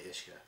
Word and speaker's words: Uisce: cuz freaking hard to say you're going to pronounce this right bar on uh ishka bar iska u i s c yeah obviously ishka Isa um we have an 1803 and a